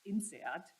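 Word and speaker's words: INSEAD: your question uh the the French institution is actually generally pronounced in seat and is uh is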